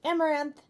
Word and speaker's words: Amouranth: hi guys I'm Caitlyn My Stream name is pronounced amaranth and I do lots